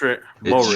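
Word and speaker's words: Moehrig: I don't know how to pronounce his name. Morig. It's Morig, Trayvon Morig.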